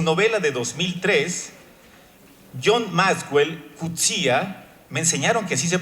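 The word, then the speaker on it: Coetzee: Elizabeth costelo su novela de 2003 John maswell cuta me enseñaron que así se pronuncia este autor que siempre le decimos coets una una persona que lo conoció me dice entonces John Maxwell cuta agonista de ese libro una observación que se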